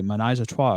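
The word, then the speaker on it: ménage à trois: cruise ship was sparked by jealousy over a menage a trois, according to report. Hold on, my man pronounced menage a trois, but fucked up rocked.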